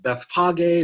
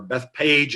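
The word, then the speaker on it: Bethphage: to the town of Beth Bogg A or a Bethpage it's sometimes pronounced or maybe I should say mispronounced and that's where they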